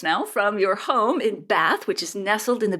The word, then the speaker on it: Bath: But I should also, because I'm obviously English, we pronounce it Bath.